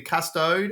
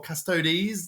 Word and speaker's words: Custodes: It's going to be the Custode or Custodes, depending who you are and how you say it, Spicy.